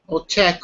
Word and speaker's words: Czech: is check oopsie check check okay yeah so that's also the nationality if you're from the czech republic then your check um same pronunciation as that which is the verb or that in the